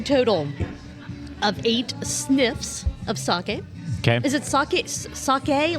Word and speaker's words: sake: not a proper pronunciation so I'm sure that like there is a Japanese pronunciation which is sake sure s but I would say saki that's how I say s eight okay six